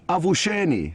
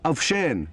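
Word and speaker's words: avuxeni: the same tribe, is avusheni, spelled A-V-U-X-E-N-I. So the X's are pronounced as sh. So avshen means good morning.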